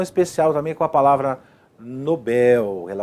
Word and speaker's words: Nobel: Não é dessa forma, porque Nobel é uma oxítona. Ó lá, Nobel. Tanto que o bel aqui é a pronúncia mais forte, né, da sílaba mais forte aí.